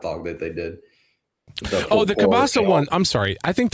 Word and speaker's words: kielbasa: Not kibasi, kielbasa. Kielbasa. Say it right. Yeah, you're not kielbasa. American. Well, no, you're allowed to say kielbasi because it's 4th of July, so you're allowed to speak American.